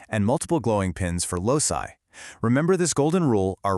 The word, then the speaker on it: loci: Now, when we have more than one locus, it becomes loci, pronounced loci.